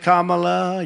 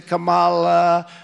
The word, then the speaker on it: Kamala: you can say Kamala you can say Kamala I said don't worry about it doesn't matter what I say I couldn't care less if I mispronounced it or not I couldn't care less some people think think I mispronounce it on purpose but actually I've heard it said about seven different ways there a lot of